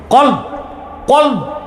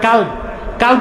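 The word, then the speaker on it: قلب: কলব কলব অর্থ কি? অন্তর দেহের মূল কি? অন্তর জোরে বলতে হবে। অন্তর দিল কল আপনারা অনেকে ভুল উচ্চারণ করেন। বলে কাল কাল মানে কুত্তা।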